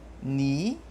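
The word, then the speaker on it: nì: lugar no lugar e o ni com a crase falado fazendo bico ele é referente a uma pessoa um sentimento a ser estar então ni ni e ni de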